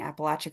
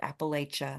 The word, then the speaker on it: Appalachia: First, thank you for pronouncing Appalachia correctly, though we extend grace to anyone who pronounces it Appalachia.